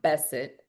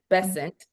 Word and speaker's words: Bessent: uh Scott Besset, Bessant, excuse me, I saying his name wrong, has been serving since August 8th.